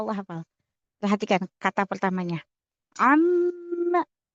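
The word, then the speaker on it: عَمَّ: Amma. Mimnya gunnah. Tasdid. Jadi jangan ama. Salah. Amma.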